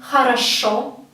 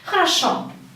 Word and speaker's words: хорошо: Because O in Russian can be pronounced both as O and as A. And it depends on the stress. You can see this word хорошо.